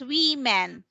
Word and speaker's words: women: we are women yeah so that's pronounced as we men okay yes but if this one okay can you read that one yes very good so that uh that is woman and this one is women we men women and